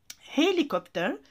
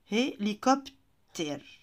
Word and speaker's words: hélicoptère: Hélicoptère, j'ai trouvé ça rigolo.